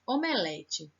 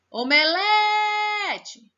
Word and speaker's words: omelete: Omelete. Omelete. Eita, não conseguiu escutar? Então, vamos de novo. Omelete. Foi o lé.